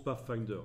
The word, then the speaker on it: Pathfinder: de fenêtres pas facteur ça se prononce pas finder si vous pouvez pour